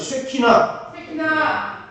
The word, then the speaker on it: 쉐키나: 따라하세요. 쉐키나. 발음을 세게 하면 이거 욕같이 들리니까 쉐키나.